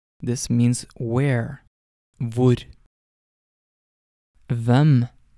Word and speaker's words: hvem: Before getting on to the words themselves, I just want to note that most of these question words start with HV, and the H in these words is silent.